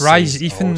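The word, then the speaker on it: Rhys Ifans: It's Rise Ifans something. His name wrong, John.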